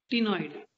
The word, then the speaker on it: ctenoid: The second type is ctenoid scales. Ctenoid. C is silent in this case.